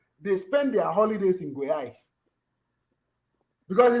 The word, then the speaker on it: Goiás: In a state called Goiás. How do you spell that in English?